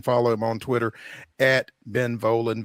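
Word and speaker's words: Volin: him on Twitter Ben volan Vin um am I pronouncing that correct it's not Vin or anything like that okay great I say it rhymes with stolen so you got it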